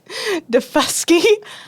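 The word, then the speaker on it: Daufuskie: It's called Defusky You got it.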